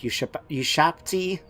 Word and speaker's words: Ushabti: They've got Neherkaran warriors, they've got Neherkaran horsemen, they've got Carrion, they've got a unit of Ushabti, thank you, I nearly said it wrong, as well as the archers.